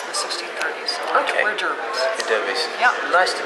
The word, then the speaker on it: Derby: Yeah, it depends on when you came to this country, whether you're Derby or Derby. Ah, okay, because in the UK it's spelled the same way and it's called Derby, Yeah.